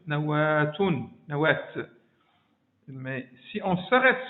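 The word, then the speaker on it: نواة: Mais si on la prononce dans le milieu de la phrase, on ne va pas dire nawa, on va dire deux points ici, on va dire nawatun, nawat.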